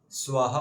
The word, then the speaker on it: स्वः: ओम भूर भुव स्वः स्वः कई भक्त बोलते हैं स्वः स्वः स्वाहा वाला स्वाहा नहीं स्वः जो विसर्ग है ना स्वः पे उसको हमें है पढ़ना होता है।